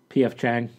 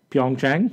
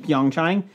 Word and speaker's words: Pyeongchang: P.F. Chang. Stop it. How do you say it? Pyeongchang. Pyeongchang.